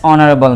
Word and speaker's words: honorable: Next we have Karim is dash honorable man. Here we have H in front, but here H is silent. Honorable, and it sounds like a vowel, so we have to put N instead of using a.